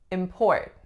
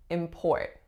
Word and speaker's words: import: next one we have import in port so first I will a second vowel or strongest syllables the second import as a noun that